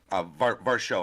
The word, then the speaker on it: Varsho: And then a kid who I think is going to be a sleeper is this kid, Dalton Varsho. Varsho, I'm sorry, is the way I should say his name.